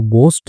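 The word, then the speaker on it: ghost: तो गोस्ट जो है उसको देखने के लिए ले चलते हैं। एच साइलेंट होता है इसमें।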